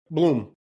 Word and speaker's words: Blum: Yeah. Yeah. Bloom. Yes, Bloom. I I do keep doing that.